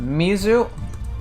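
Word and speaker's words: みず: uh two different ways it's pronounced Mizu or sui right so that kanji is sui so Mizu is the Japanese way to say it so that's how Japanese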